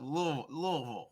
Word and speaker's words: Louisville: And you pronounced Louisville right. That's good. I've practiced that. Louisville.